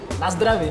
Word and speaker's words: na zdraví: Na zdraví, na zdraví.